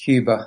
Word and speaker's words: Huber: beekeeping hello Gary I should say this that's pronounced Cuba and should have I would you do obviously